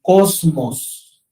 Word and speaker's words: cosmos: en el Nuevo Testamento viene de una raíz griega que que se pronuncia o que que sí se pronuncia como cosmos cosmos de allí viene también